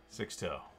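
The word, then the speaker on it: Sixto: out of 275 wait somebody told me it's pronounced six toe mods andrew congrats man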